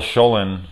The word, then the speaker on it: Schoelen: shame because there is a scene where Jill Schoelen showing right that's how you say her name